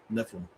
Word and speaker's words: Nephilim: That's just that's how you say it in Judaism, Nephilim.